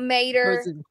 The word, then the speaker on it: Mater: i love everything about mater it's pronounced like toe mater except without the toe like he is such